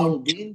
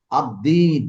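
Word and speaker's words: الدين: হ্যাঁ, তো বি যোগ হুম দিন, প্রথমে আমরা বলবো আদ্দিন, আল দিন, কিন্তু আসলে উচ্চারণ হবে আদ্দিন।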